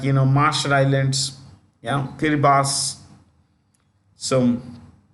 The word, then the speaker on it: Kiribati: Fiji countries like you know Marshall Islands yeah kiribas so kiribas is written Kiribati but pronounced okay so if you want to write